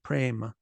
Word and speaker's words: Prema: like this okay how do you pronounce Prema prime a e the a sound is long Prema pran this one is